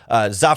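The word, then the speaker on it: Zah: Za Frazier, although I've heard it pronounced Zay Frazier, the 5th-round cornerback from UTSA, 6'3" with 4.4, 4.3 speed in there.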